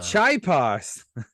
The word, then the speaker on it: Chiapas: Yeah, he's in Chiapas, Mexico. Chiapas, yeah. It's spelled like Chia Pet, ChiaPas. Oh, Chiapas. Yeah, they call it Chiapas.